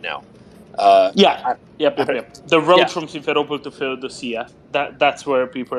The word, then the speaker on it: Simferopol: Well, how do you pronounce this, Doman? Help me out here. It's Simferopol.